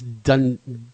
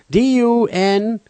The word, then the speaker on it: Dunedin: Dundine? D-U-N-E-D-I-N. How would you pronounce that one? It's Dunedin.